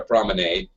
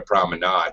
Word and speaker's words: promenade: I think there are two pronunciations. I call it a promenade with an A because I'm an American and we, we talk like that.